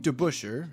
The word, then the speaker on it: DeBusschere: Dave DeBusschere, as I correctly pronounce his name this time, is another player that almost kind of gets lost to time.